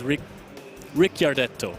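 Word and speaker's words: Ricciardetto: and I never know where but it is Rick Rick gardetto ooh we also have the Phoenix blade maybe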